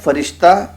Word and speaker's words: فرشتہ: اور ایسے ہی آگے لکھتے ہیں, جیسے فرشتہ, فریب, بہشت کہ فارسی میں یہ لفظ بکسر حرف اول ہیں, مگر اردو بول چال میں بفتح حرف اول ہیں.